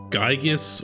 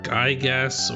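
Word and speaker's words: Giygas: I've been told that it's apparently pronounced Gygas or Gygas or maybe Gigas. I'm still not entirely sure how to say this guy's name. I'm just gonna stick with Gigas for consistency's sake.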